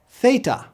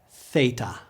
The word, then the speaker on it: theta: aa a AA a Theta we have the same sound in English in words like theater thistle and thirst try saying it with me Theta Theta F Yoda this